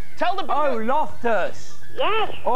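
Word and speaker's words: Loftus: oh oh oh what a you spell my name wrong it's l o f t us not L tell the oh lofters yes all right canuse me do you want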